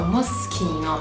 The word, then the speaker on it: Moschino: So Moschino, and remember C&H, it's always G.